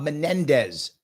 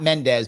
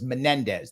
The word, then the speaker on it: Menendez: thank you my friend was Bob Menendez thank you not Mendes my mistake I apologize for getting his name wrong it was Menendez that's the guy with